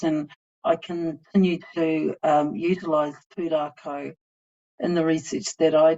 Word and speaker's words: Pūrākau: And this is where I think pūrākau, which is a narrative Māori Indigenous approach, um,